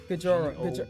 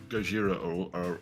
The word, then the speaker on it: Gojira: Do you guys know a metal band named Gajora? Gajora, I think. How do you pronounce it? Gojira.